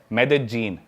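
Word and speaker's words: Medellín: उसकी एक सिटी है मेदजीन। स्पेलिंग में उसमें डबल एल आते हैं। मेदलीन होता है। लेकिन कोलंबियन स्पेनिश में ल को ज बोलते हैं।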